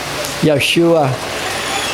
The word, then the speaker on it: Yeshua: Purihin ang Panginoon, HaMashiach, Yeshua. Yan po ang original na pagkakabigkas sa pangalang Heso Kristo.